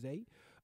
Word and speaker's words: Xay: But it's XAY. I believe it's gonna pronounce it with Zay.